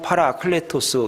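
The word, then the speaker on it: παράκλητος: 말하는 성령은 보혜사 였습니다 헬라 말로 팔아 클레 토스 이렇게 발음을 합니다 해석을 해 드리면 옆에서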